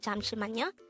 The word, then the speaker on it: 잠시만요: the yo character itself again that's the four syllables of cham shimano we just need to combine the angle for